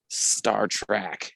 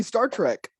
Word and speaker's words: Star Trek: oh track star trek i've never heard anyone say that in my life it's definitely star trek it's star trek how do you spell it hold on we're not going to argue about this i literally have a poster in my room it's t-r-e-k i mean i don't